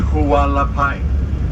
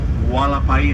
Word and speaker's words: Hualapai: It is pronounced Hualapai. Hualapai in English, with a W, Hualapai.